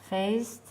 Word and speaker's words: faced: Faced. C is not going to be a Z.